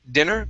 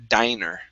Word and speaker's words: diner: Um, this word here, instead of dinner, it is a long I when there's only one N, this is now a diner.